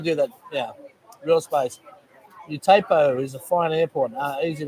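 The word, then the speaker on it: U-Tapao: Utapo is a fine airport, easy to get to Pat's.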